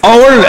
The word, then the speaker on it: hour: hour H silent.